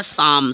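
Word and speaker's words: psalm: word है ठीक है जैसे पी एस ए एल एम तो क्या होगा ये हो जाएगा साम साम मींस भजन होता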